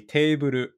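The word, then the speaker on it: テーブル: So this is actually kind of ironic, but it's actually teiburu. Teiburu. It's an English loan word.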